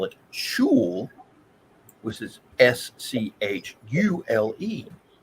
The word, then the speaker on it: Schule: In Germany, they spell it Schule, which is Schule. Schule.